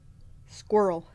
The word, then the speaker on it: squirrel: it's got Arielle it's basically rhymes with swirl or girl squirrel it's cute barb from